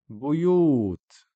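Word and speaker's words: بيوت: Buyut. Buyut. Again, short vowel dhamma on the ba just makes bu, and then the extending is after the ya with the dhamma, you. Buyut. Not buyut or buyut, it's buyut.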